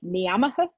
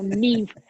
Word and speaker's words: Niamh: And the woman was like, Niamaha, Niamaha. I was like, no, Neve, Neve.